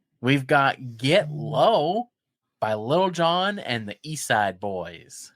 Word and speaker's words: Lil Jon: You should learn to say his name right first. Lil Jon? It's not Little John.